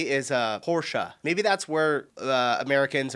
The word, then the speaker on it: Porsche: Porsche. So there's like this short a sound in the end.